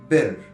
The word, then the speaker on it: بر: الجزء الاول العلامة اللي باللون الاخضر، وهي عبارة عن فناء بيت مربع ناقص ضلع، وتنطق بر، او ممكن تحطها ب راء، او بالانجلش بي ار.